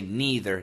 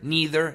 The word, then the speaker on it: neither: And for the pronunciation, we can also say neither. Neither. Neither. Both very common. Don't worry. Say whichever comes naturally.